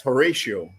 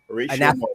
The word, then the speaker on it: Horatio: And um how do you pronounce your name? It's Horatio. Horatio.